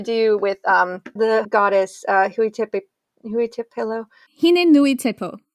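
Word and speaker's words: Hine-nui-te-pō: Hine Nui Tepo, I believe is how you say it. I hope I didn't screw it up. Hine Nui Tepo.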